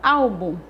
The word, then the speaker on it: álbum: Álbum, na palavra álbum, o al é a sílaba tônica.